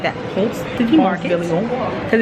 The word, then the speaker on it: Ponce: We're at Ponce. I feel like you gotta say it like that. Ponce City Market, because it's Ponce de Leon.